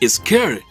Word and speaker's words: Shere: pronunciase en algunos medios y de acuerdo con el propio kipling su correcta pronunciación es ezker aunque yo jamás he